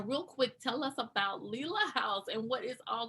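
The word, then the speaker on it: Lela: quick tell us about leela house and what is all going on with lila house so in my head i pronounce it layla house layla house thank you for correcting me no problem i don't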